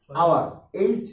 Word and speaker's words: hour: করেছে, সেটা হচ্ছে যেমন আওয়ার, HOUR, আওয়ার অর্থ কি? হ্যাঁ, ঘন্টা। তো ঘন্টার ক্ষেত্রে কিন্তু ক্ষয়ের উচ্চারণটা আ হয়ে যাচ্ছে, ঠিক আছে?